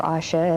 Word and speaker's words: OSHA: consumer protection agency uh osha or asha as some pronounce it those kind of agencies